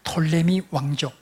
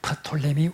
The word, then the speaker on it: 프톨레미: 다툼을 할 때, 그때 톨레미 왕조라 T 앞에 P가 있는데 이 P는 영어에서 묵음이 되기 때문에 영어 발음으로는 톨레미 이렇게 하지만은 원래의 발음으로는 P를 묵음으로 할 이유가 없기 때문에 프톨레미 왕조라 이렇게 주로 말합니다.